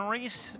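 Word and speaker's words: Reis: Reese on Reese action. Christian on the mound, spelled R-E-I-S. Reese at the plate, R-E-E-S-E. Pronounced the same.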